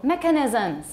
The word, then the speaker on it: mechanisms: you say it wrong stressed on which syllable the first got it the first syllable mechanisms got it mechanisms okay